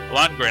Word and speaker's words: Lundgren: Lundgren is how we agreed to pronounce that. That's right. Lundgren.